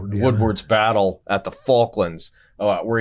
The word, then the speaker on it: Woodward: It starts to look a lot like Admiral Stan Sandy Woodford Wood I always mispronounced his name Woodward Woodward's battle at the Faullands where he kept his